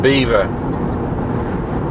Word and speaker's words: Belvoir: Beaver Castle. Um Beaver is spelled Belvoir. That's how you think it was going to be pronounced, but it's actually pronounced Beaver.